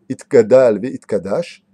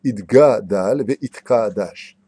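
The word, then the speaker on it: יתגדל ויתקדש: Et d'arrêter de dire ce qu'on entend dans toutes les synagogues, Itgadal ve Itkadash, parce qu'il n'y a pas marqué Itgadal ve Itkadash, il y a marqué Itgadal ve Itkadash. C'est un guimel et non pas un kaf ou un kouf.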